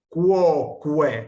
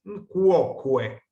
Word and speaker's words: quoque: Por ejemplo, la palabra quoque, que ya vimos en el capítulo anterior, la pronunciamos quoque, pronunciamos las dos U's, quoque. La Q va siempre acompañada de la U y la U se pronuncia siempre.